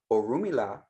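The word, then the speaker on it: Orunmila: who is on amelia oh rumi la that pronunciation is very important and i'm gonna get into why that pronunciation is important a little further down but or rumila is how you say it i don't know what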